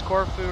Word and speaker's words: Corfu: Pronounce Corfu right, but not just have to trill the R if you can.